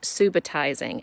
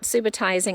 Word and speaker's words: subitising: It can be pronounced subitizing. It comes from the Latin word subito, which means to arrive suddenly or similar meaning to that. You can pronounce it subitizing or subitizing.